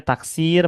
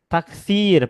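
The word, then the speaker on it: تكسير: Nah, ini bacanya taksir pakai huruf sin bukan taksir pakai huruf tsa bukan.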